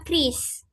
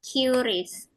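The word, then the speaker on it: QRIS: Nah, harusnya bacanya Kris, cuman familiar di Indonesia Cis. Tapi bacanya harusnya Kris.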